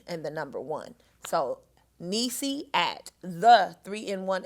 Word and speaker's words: Neice: email and you can reach me there at nisi that's spelled n e i c e at the